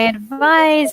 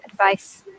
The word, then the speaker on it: advice: I need some advice. Also be careful with pronunciation. So the verb is advise. Z sound. To advise. And to give advice. That now you hear how short that is.